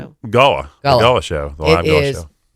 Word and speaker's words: Gullah: And most people come in and say that we want to see the Gullah or Golo. They don't know how to pronounce it, but it's Gullah.